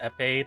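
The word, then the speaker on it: épée: afford two vulner also I believe EP is pronounced epe the French word I know I just think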